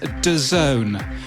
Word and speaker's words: DAZN: noticed yesterday that i didn't know how to pronounce dazn or n or d a z n apparently it's d zone because of course it